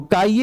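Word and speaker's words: χ: इसको प्रोनाउंस करते हैं काई की तरह, प्रोनाउंस करते हैं काई की तरह, ठीक है, काई की तरह।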